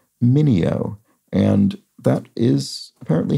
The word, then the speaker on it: Mineo: pronounced the actor Sal I pronounced his surname as manea maneo which I think would be closer to the Original Italian pronunciation but um as Jim points out it's in fact pronounced Mineo and that is apparently